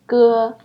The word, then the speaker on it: j: Look at this one, G. It's kind of similar, but still a little bit different from the G sound in Jeep. When you pronounce it, you need to make your tongue flat instead of curl it.